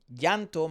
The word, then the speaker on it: llanto: So llanto might be quite difficult for him to pronounce. It but also can be easily misunderstood as a cha sound. Because it's not chanto.